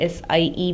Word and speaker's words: Sie: Also in this S, this Z, ये जो आप Z देख रहे हो SIE में जो S है, ये S जो है, this takes the pronunciation of Z.